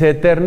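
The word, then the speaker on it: Aeterni: eterna y patrice es eterna y se escribe con el diptongo latino hay a eterna eterna y patrice y propiciando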